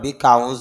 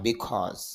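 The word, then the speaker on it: because: সুন্দরভাবে বিউটি সৌন্দর্য বিকজ যদি আমরা বিকাউজ বলি আসলে বিকাউজ না বিকজ বিকজ কারণ বিকজ অফ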